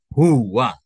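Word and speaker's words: هو: Maka dibacanya itu huwa.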